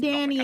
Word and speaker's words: Gridania: Yeah, that's pronounced Gridania.